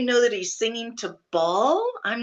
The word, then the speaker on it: Baal: it's not spelled the same. It's B-A-A-L. Ball, but it's still Ball, Baal.